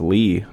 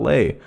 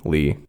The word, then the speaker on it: Leigh: song I also learned that his name is pronounced Li not Leigh which is how he pronounced it in the last episode my B Lee number 5 troll 2 1990 directed by Claudio